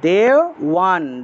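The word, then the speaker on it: দেবান্: তারপরে দেওয়ান, দেওয়ান ব থাকায় ওয়া উচ্চারণ হবে, দেওয়ান, দেওয়ান, এইভাবে।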